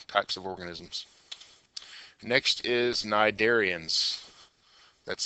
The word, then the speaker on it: cnidarians: Next is cnidarians. That's how you pronounce it, cnidarians. The C is silent.